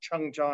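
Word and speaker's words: 청자: same two characters used in korean and japanese pronounced chung-ja and korean and seiji in japanese in in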